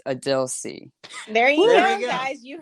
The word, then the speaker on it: Adil C: And I'm really hoping that I can't wait to just let everyone know, be like, this is the official way to pronounce Adil C.